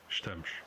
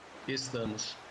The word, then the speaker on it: Estamos: In this word, you can hear the difference in the S sounds, sh in European Portuguese and s in Brazilian Portuguese. You can also hear the vowel reduction in the European word, with the first vowel basically dropped.